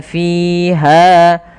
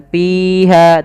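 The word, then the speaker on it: فِيهَا: Maka labithina fiha, fi alirkan fiha, hati-hati jangan terbaca dengan piha, tapi dia fi, alirkan nafas.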